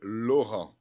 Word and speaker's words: Laurent: como fala seu nome com a pronúncia francesa na França fala ser loran loran de de muito